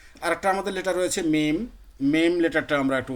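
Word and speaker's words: م: অংশতে মিম উচ্চারিত হয়। মিম, হ্যাঁ মিম, মিম, জি। এখন যদি সাকিন করে উচ্চারণ মিম, করে দেখেন, হামজা মিম জবর আম,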